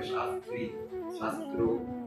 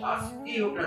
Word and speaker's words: শাস্ত্রীয়: অনেকে এটা একটু ভুল উচ্চারণ করে, শাস্ত্রী শাস্ত্র, তা না, এটা শাস্ত্রীয়টা যেমন।